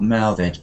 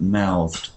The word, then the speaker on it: mouthed: um X lesson but the pronunciation of mouthed is quite soft at the end not mouthed but mouthed mouth mouthed yeah like